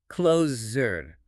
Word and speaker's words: closure: The deuce here doesn't make a sound or a chi sound. It makes a voiced vibrating zik sound deep in your throat. Oh, right. Think of the word measure or vision.